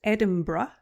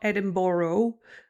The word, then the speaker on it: Edinburgh: Uh so, uh first stop, first destination on my holiday was Edinburgh, uh which is pronounced Edinburgh, not Edin-bor-o, like Americans like to pronounce it.